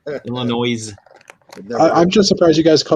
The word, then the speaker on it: Illinois: not pronouncing the S, and that's all that matters. Illinois.